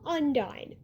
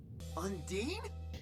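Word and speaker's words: Ondine: Just looking at the spelling, the first part looks like on. The second part looks like dine, like dining in a restaurant. But if you check the episode siren and find when Kim says it, you'll find the answer. It's unde.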